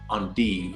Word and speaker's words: endive: do I go to find a California on on D I've been saying it wrong all this time